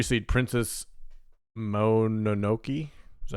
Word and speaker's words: Mononoke: Nate's number 3 seed, Princess Mononoke. Is that how you say it? Mononoke.